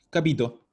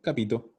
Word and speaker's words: capito: Entonces, capito. No hay doble, no hay nada. Lo digo así, capito.